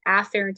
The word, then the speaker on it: afferent: afferent or afferent arterial I usually try to pronounce the a really apparently because the other one is called efferent so they sound exactly the same so that's why I just say afferent and efferent just so you guys